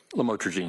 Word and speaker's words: lamotrigine: the drugs, about the Lamictal, otherwise known as lamotrigine. Did I pronounce that right? Lamotrigine, yes.